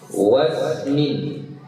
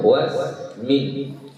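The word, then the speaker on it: واسم: Min fi'lin wasmin, ya, wasmin. Ini hamzahnya juga tidak dibaca. Kenapa? Karena dia adalah hamzah wasal dan dia bersambung, ada huruf atau kata sebelumnya.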